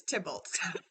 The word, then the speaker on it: Tybalt: So the last time you guys were here, and I figured out how to say his name is Tybalt.